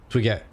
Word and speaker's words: Twigette: Okay, so speaking of how to pronounce names, are you a Twigette? Like a twig, but female? Like a female twig? Twigette? Twigetti? Like spaghetti, but different?